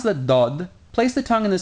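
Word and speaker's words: ضاد: position you would use to pronounce the dal, but move it back a little bit so it gives a more resonating and a bit more emphatic sound.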